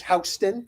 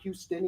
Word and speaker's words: Houston: that I found uh his name is Houston not Houston even though it looks looks like it's spelled as Houston and he was a